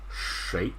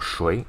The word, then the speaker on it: 谁: 谁, right? Not 谁, 你是谁?